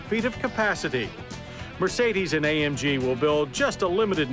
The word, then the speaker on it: AMG: As for those 3 little letters, AMG, well, we're told the proper German pronunciation is AMG.